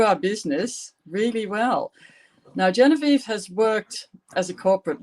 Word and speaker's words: Genevieve: your name properly yes my name is actually french canadian because i'm originally from quebec which is the french canadian province of the country so my name is actually pronounced genevieve jennifer okay thank you